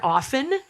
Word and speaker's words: often: the correct pronunciation that the t in that word is silent kind of like soften i actually looked that